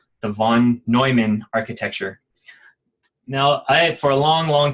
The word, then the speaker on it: von Neumann: Now, for a long time, I thought this was von Neumann, and I think it's just because I read it all the time and I never heard it out loud. But I recently learned from Sean that it's pronounced von Neumann.